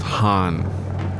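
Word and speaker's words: ハン: he's going to suffer khan in japanese is pronounced han i guess the kh would be something like our sound and those kind of sounds glottal stop sounds from like for example from german change to h's in japanese so the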